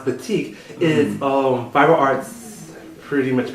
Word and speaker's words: batik: Well, batik is how you pronounce batik.